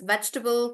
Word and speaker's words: vegetable: Even in comfortable in the word comfortable there is no table. So it's not comfortable. So in vegetable there is no table. In comfortable there is no table. So they are supposed to be pronounced as vegetable, comfortable, uncomfortable like that.